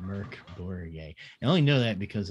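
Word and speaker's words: Mørk: grown swedish team and her name spelled mork but it's pronounced merc so and i'm like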